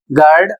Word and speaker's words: guard: है, इसमें लिखा है GUA या GUE कॉम्बिनेशन में है तो भी यू का उच्चारण नहीं किया जाएगा। जैसे यहाँ पर शब्द है GUARD, इसे पढ़ा जाएगा गार्ड और इसकी हिंदी होती है रक्षक।